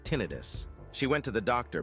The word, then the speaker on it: tinnitus: the ear, it's called tinnitus. You'll hear people say tinnitus. It's not tinnitus. It's a uh accents from the third to last syllable.